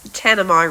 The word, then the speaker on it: Tanami: from the future and I actually got the pronunciation of that road wrong as I've just discovered it is tanami Road for anybody who's interested